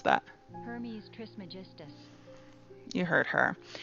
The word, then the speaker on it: Hermes Trismegistus: How do you pronounce that? Hermes Trismegistus. You heard her. Hermes Trismegistus.